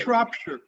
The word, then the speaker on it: Shropshire: I have a trouble pronouncing it, but I think it's Irish. It's English. It's English. It's Shropshire.